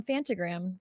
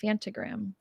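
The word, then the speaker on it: Phantogram: I'm going to see um Fentagram tonight. If anyone is a fan, fant. That's how you say it properly. Fantogram.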